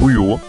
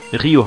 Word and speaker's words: Ryo: Die sagen immer noch Ryo. Obwohl das Y einfach wie ein I ausgesprochen wird und nicht wie ein Ü. Also nochmal zum Mitschreiben, es ist nicht Ryo oder, sondern Ryo.